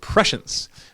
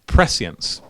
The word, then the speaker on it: prescience: Well, if you look it up in the Merriam-Webster dictionary, they pronounce it prescience. But then if you look it up in the Oxford dictionary, they pronounce it prescience. So both are correct. So feel free to say prescience or prescience.